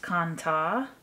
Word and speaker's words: kantha: I had read on the internet when I was looking up the kantha, what we call kantha here, I guess, in the Western world, that kind of style of making things, making a quilt, and I read that it was actually pronounced kanta, that we have kind of just been mispronouncing it all this time in more of the Western world, I guess.